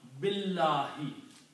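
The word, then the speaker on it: بِاللهِ: That means do not pronounce, do not read alif. Okay, so that's the reason we combine this B with lam. Billahi.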